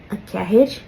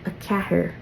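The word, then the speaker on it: a ceathair: Now, before we move on, you might also hear a kahir, which is essentially what this says. But, technically speaking, and it's taken me a while to learn this, R sound, a pure English R sound, is a foreign sound to the Irish language. So, a cahir isn't really what you'd hear a native speaker say.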